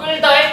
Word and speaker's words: 끌다: 1번 끌다의 첫 음절은 장음으로 발음되는 건 볼까요? 여기 표시되어 있지? 그쵸? 요게 장음 표시입니다. 장음 길게 발음해라. 그래서 발음할 때 어떻게 발음해? 끌다 이렇게 발음하는 얘기예요.